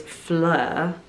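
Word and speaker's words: Phlur: Another new addition is Fleur, but spelled like phlegm.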